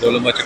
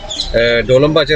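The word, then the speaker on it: Dolmabahçe: are going towards Dolmabahce Palace I have been pronouncing it wrongly by the way DOALAMBACHAY I have a local friend along with me A Turkish Taxi driver He corrected me and told its real name is DOLMABAHCHAY So from now we have to pronounce it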